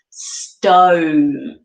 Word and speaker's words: stone: odd one out is stone because we pronounce that with a long o sound stone whereas the rest the o e is pronounced with an o sound of love shove glove they're different from stone was that a tough